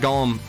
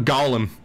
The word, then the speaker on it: Golem: It's Golem, not Gollum, says Nutscrack92. Well, thank you for your pronunciation lesson. I don't necessarily know if that's settled science or not, though. Might be Golem one way, Gollum the other.